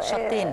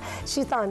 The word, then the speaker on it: شطين: ومتهي بشط، وكان صعب جدا على الاجانب يقولوا شطين بالظبط كده، شطين، فقالوها شيطان، فبدل يقولوا راس شطين نقلدهم بقى. مش نقول لهم الحقيقه. هم عندهم الفوناتيك مختلفه خالص عننا، فصعب عليهم جدا ما ينطقوا، فالكلمه بدات تبقى دارجه، فكل الناس بتكرر كلمه تبقى راس الشيطان، هو اصلا راس شطين.